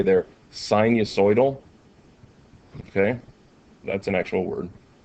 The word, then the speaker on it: sinusoidal: I remember actually it was in high school physics, and I had said sinu or sine sortal or something, and my teacher was like, sort of sine?